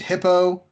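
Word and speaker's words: Hippeaux: got a resident named hippo that I appreciate they spell it H IP PE au X so it's like it's like a Cajun hippo yeah a friendship which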